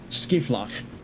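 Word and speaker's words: Scheivlak: S hard G I F A K F L A F L A K. Okay, Skiflach. Oh, like Schiphol, like the airport.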